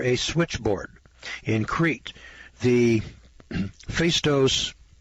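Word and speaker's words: Phaistos: calculating machine or a switchboard in crete the face dose spelled p-h-a-i-s-t-o-s i presume that's face dose disc discovered in 1908 shows evidence of having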